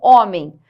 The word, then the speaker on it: homem: não é fonema então homem por mais que eu tenha esse H aqui ó homem hoje tá se perceba que não tem pronúncia nenhuma aqui então essa diferença fonema